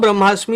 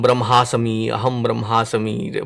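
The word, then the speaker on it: ब्रह्मास्मि: saw some TV show where that also was mispronounced. Very painfully I had to hear it. Aham Brahmasami, pata nahi kya bolne wala tha.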